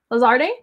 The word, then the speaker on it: Lazarde: wild interviews with lazarde lazarde that's how you pronounce that yes so most favorites are